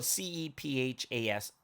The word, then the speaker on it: Cephas: well in the bible c-e-p-h-a-s cephas or kepa you know however you want to pronounce it and what does it